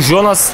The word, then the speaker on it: Jonas: kötü bir vuruş bu Jonas honas diye mi okunuyor ya holas Güney Amerika'da Ah roi kırdım sanırım Güney Amerika'da bu tarz oyuncular jer H diye okunuyor O yüzden ben honas diyeceğim Juan Sebastian Veron Benim